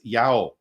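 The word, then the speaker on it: ΙΑΩ: uh you have there the three letters the Iota the alpha the Omega the and it's trying to pronounce the Divine name as Yao right and so so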